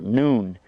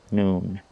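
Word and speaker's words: نون: the way that's the name of this letter noon so we had a below and we called it ba and here at noon time we called it noon and it's pronounced n noon going to draw another one now like this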